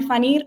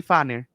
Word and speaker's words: Phaneer: Fanir, y yo decía Fanner. Ay, y es No, Fanir. es Fanir en realidad, pero es que siempre confunden porque hay muchas personas que piensan que se pronuncian así como Fanner.